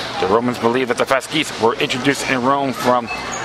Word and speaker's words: fasces: Yeah, Fasces. That's how you pronounce it.